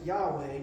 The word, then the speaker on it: Yahweh: And most of the time in the current translations in the Bible, when God addresses himself, we use the word, we pronounce it Yahweh, but the Jewish people won't even attempt to pronounce it.